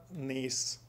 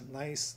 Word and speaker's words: gneiss: It's called the Peninsular Gneiss, G-N-E-I-S-S, pronounced as nice, gneiss, whatever.